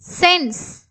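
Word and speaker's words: sign: Seam sense sense. சைன். ஸோ இங்க வந்து பாத்தீங்கன்னா G வந்து சைலண்ட் சைன்.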